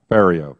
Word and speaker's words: Ferriero: off saying you're drunk rhymes with stereo Ferriero area thank you okay